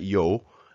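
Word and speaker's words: 요: we have yo and it's pronounced just like that yo and basically it's the same as the English slang for yo so here we have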